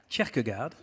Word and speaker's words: Kierkegaard: Le philosophe danois Kierkegaard disait, on prononce, Kierkegaard, voilà, disait en effet que les gens exigeaient la liberté d'expression pour compenser leur liberté de penser, qu'ils préfèrent éviter.